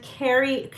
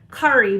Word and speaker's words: Kari: collaboration between me and Carrie Cari sorry Kari I called her Carrie for the longest time and she was like no it's pronounced Curry but I don't mind